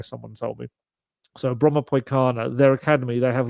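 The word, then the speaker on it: Brommapojkarna: such a long word, Bromma Poikana. I think the J in it is pronounced more like a Y, someone told me. So Bromma Poikana, their academy, they have like 4,000 people or players within it.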